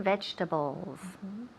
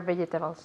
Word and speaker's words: vegetables: like fruit i prefer vegetables too okay good vegetables or vegetables vegetables perfect so instead of vegetables okay so we take out one syllable in medium we say vegetables vegetables repeat vegetables perfect